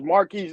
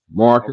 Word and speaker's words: Marquez: Is Marquise? Am I saying it right? Marcus, Marquise. Marcus.